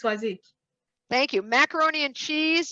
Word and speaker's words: Swazik: And Maxine and Swazik, you're going to have to help me with the pronunciation there. Did I get that right? And Elaine. Yeah, it's Swazik.